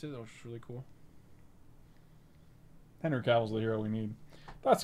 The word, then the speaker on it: Henry Cavill: What's a Henry Cavill?